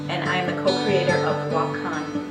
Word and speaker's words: Wakan: I'm the co-creator of wacon boxing pronounce wah Khan and it is Lakota for sacred these are sacred